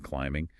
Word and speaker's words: climbing: Things like silent letters, the L in salmon or the B in climbing.